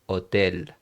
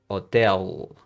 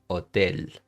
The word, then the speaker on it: hotel: So you would say hotel. Okay, you don't say el hotel. I'm exaggerating, of course, but you you got the idea. You would say hotel hospital.